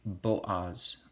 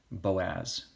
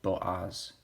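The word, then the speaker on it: בֹּעַז: last video shall the moon then we see Bo Oz bajas it's important we pronounce these correctly not not pronounced Boaz but Bo Oz then Rajas Rajas which has a Rahab Ovid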